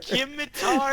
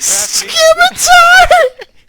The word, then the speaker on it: scimitar: Scimitar There's to blacksmith crafting. Scimitar! It's a scimitar. Scimitar, radiant scimitar. The C is silent, LJ.